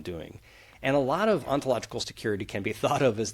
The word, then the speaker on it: ontological security: Ontological security.